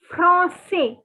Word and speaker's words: français: would say je suis français. Je suis français. See, for boys, you don't have to pronounce the S. And for girls, you have to pronounce. That is the only difference.